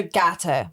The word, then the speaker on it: Gateau: And I was going to say too, with your brand Gateau, am I saying it right? Gateau? So Gateau. Exactly. Okay. It's meant to be, so my co-founder's Tonya, Gato from our names.